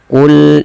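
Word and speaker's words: قل: Pada lafal qul in kanat, lafal lam tidak boleh memantul ya.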